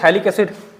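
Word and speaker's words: phthalic: इसी को हम लोग बोलते हैं थैलिक एसिड। थैलिक एसिड, थैलिक एसिड, इसी को हम लोग क्या बोलते हैं? थैलिक एसिड। ये साइलेंट रहता है, थैलिक एसिड।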